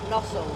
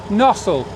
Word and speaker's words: Gnosall: next stop is where is it called nosel nosel G nosel nosel no just I know I was just saying how you spell it Nole with a G and um yeah probably